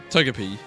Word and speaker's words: Togepi: Barack, how do you pronounce Togepi? Togepi.